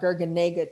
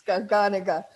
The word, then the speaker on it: garganega: garganega i had to remind myself it's not gurganga today because i use greek pronunciation it's garganica it's a great variety that's you know look